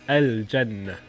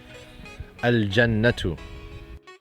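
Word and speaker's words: الجنة: Jim is a moon letter. So you pronounce the lam when you introduce the definite article.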